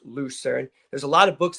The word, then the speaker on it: Lucerne: So as I say it, because that's how it's pronounced, Lucerne, there's a lot of books that have it written this way.